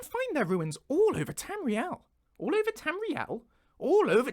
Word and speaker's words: Tamriel: Tamriel yeah we say Tamriel that's what I've said every time before Tamriel rhymes with swell right I'm not going